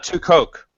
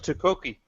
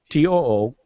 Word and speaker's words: tu quoque: It's tu coke. It's the U2 fallacy. No, it's it's tu quoque. Tu quoque. Tu quoque. Yeah. Tu quoque. Tu quoque. It has a pronunciation guide there. Tookwokee.